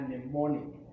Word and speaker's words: mnemonic: A mnemonic. The word mnemonic starts with M, where M is silent.